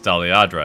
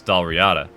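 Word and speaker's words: Dalriada: doll riyada is that i initially read it as daliadra i'm like okay no it's doll riyada and then i'm like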